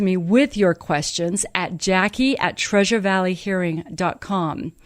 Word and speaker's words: Jacquie: Valley hearing calm now my name is spelled a little differently so pay attention I'm going to spell it for you here you go it's J AC Q u ie Jackie at Treasure Valley